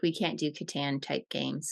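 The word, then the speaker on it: Catan: how you say it I think it's Katan because I watched an interview with the inventor okay and that's how he said it so we'll go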